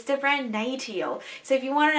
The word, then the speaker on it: NATIO: So I always pronounce it as NATIO, but it's actually pronounced as NATIO.